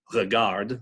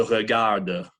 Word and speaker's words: regarde: Also, if there is an unaccented E at the end of a word, that is also the schwa, typically unpronounced, unvoiced, mute in French. So je regarde, you don't pronounce that